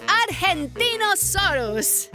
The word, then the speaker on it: Argentinosaurus: the Argentinosaurus.